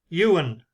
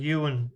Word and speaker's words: Ewin: Newcomers on the bus: Darren Corcoran, Thomas Murphy, Ewan, EWIN. I presume you pronounce that as Ewan. That would be Welsh to me.